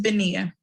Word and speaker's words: Benia: stood up and literally my name it is benia it is pretty easy pretty simple to say in my entire life people have butchered it almost every time i've heard my